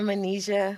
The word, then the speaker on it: Manijeh: I keep mispronouncing her name, but I'm so sorry. Say your name for the audience, please. Dr. Manijeh.